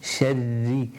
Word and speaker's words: شَرِّ: وَمِن شَرِّ. Two ra's to pronounce because of the shadda on ra.